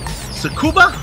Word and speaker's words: Tsukuba: Joe am I getting this right is it tsukuba the sex forget you got it all right don't pronounce the deed you know this being the